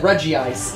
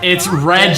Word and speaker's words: Regice: Which is why the anime had that movie that said Regice, even though it's Regice.